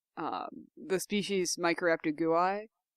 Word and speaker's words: gui: um the species microraptor gui g-u-i in chinese is actually pronounced gui okay but because but it needs to be an i sound for latin yes and because it